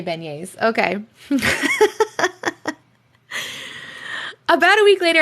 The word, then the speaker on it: beignets: Beignets. All right, we'll start over. Now that I know how to kind of pronounce it.